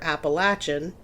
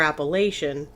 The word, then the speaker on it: Appalachian: Americans called the appalaches it's pronounced two different ways depending on where you live either Appalachian if you're from the south or Appalachian if you're from kind